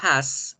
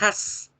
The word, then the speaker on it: has: Y el verbo has, en tercera persona, como lo vimos la clase pasada, no lo pronunciamos has, lo pronunciamos con Z. Has, has, has.